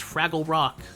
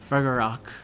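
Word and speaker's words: Fragarach: Third skill is the anti-adventure attack damage aptitude and her noble fantasm is Fraggle Rock. That is not how you pronounce this. It's Fragar Rock, which but I like calling it after the Fraggles.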